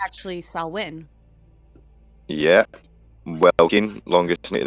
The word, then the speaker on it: Samhain: it's actually Samhain.